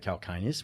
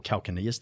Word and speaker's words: calcaneus: long lateral longitudinal Arch that extends from the calcaneus which is your or calcinus depends on how you want to pronounce it um to the Cub across to